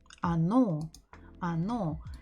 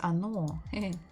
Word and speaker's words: оно: So next one, the word it, оно. So we have the same thing. The first O is not stressed. So we're supposed to write it, or not write, we're supposed to pronounce it as A.